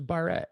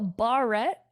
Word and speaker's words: barrette: what did you call it it was a barrette right a bar-rat what do you call it barrett yeah wow